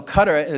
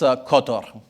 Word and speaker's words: Qatar: Uh the the way you pronounce in Arabic isQatar. Uh I'm probably not doing it justice, but uh so cutter the the Brits call Qatar.